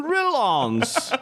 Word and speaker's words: Rollins: Men jag har sagt Jonathan Rollins jättemånga gånger, och sen nu på sistone så har jag börjat komma in i att det är ju faktiskt Rollins.